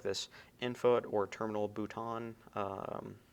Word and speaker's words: bouton: this infoot or terminal bouton. I believe it's pronounced in somewhat of a more French way like that.